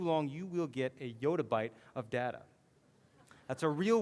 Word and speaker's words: yottabyte: Some people actually pronounce this yettabyte, but I prefer yottabyte, is what I prefer for the term.